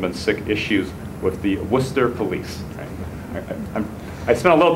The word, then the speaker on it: Worcester: around Arab Muslim and sick issues with the Worcester police I spent a little time in Massachusetts